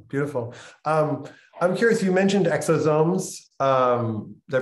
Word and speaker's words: exosome: I'm curious, you mentioned exosomes. Did I pronounce that right? Exosomes?